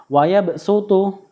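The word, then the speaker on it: ويبسط: 2 pada lafal wayabsutu di sini tulisannya wayabsutu tetapi harus bacanya menggunakan Sin wayabsutu ya yang kedua tulisannya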